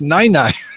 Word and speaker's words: nene: no over in hawaii nene that is a woman's breast that's pronounced nina yeah i i'm going